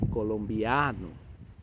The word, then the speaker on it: colombiano: Eles têm o A aqui, mas na boca, é oral. Então você vai falar Colômbia, colombiano.